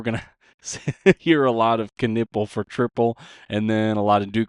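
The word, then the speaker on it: Knueppel: It is Con Knipple, by the way. It's kind of spelled like Knuppel, pronounced Knipple.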